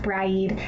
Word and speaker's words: Brigid: who has kindly informed me, that it is pronounced Bry-eed.